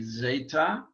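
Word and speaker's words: ζήτα: and then zeta or actually a little softer z zeta um something like if you were pronouncing it d s zeta it's the z sound that we the only sound that we have in greek um and uh we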